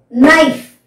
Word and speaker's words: knife: Now, seventh, kick, ka, kick, ka, knife, na, because K is silent here, knife, no, here also K is silent, knife, no, kick, ka, so, okay, next group.